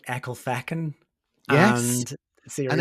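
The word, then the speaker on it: Ecclefechan: it is yeah and Siri the satav pronounces it as echle fetchin and it's because of the way that it's spell so it's e c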